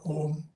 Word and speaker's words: Om: Om is the root or Bija mantra, and it contains O, A, U, three syllables, which combine, if properly pronounced, you get a Om, Omkara.